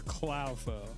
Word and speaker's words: Clow: Is it pronounced Clo or Clow? I mean, it's Clo because it's a little clown, but also I don't really mind.